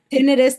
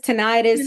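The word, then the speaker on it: tinnitus: One final thing that I want to mention is uh tonitis or potato potato. How do you say it? tinitis, tonitis, you could say it drives me crazy.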